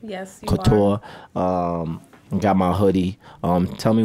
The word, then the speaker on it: Couture: Yes, Couture.